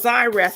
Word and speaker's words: Zyra: came down to earth it's called Zyra it sounds like a z instead of a x that's how it's pronounce Zyra she comes down to